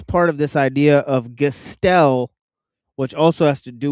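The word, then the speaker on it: Gestell: But Gastel, right? And then like think of it, it sounds like skeleton, right? Gestel skeleton, right?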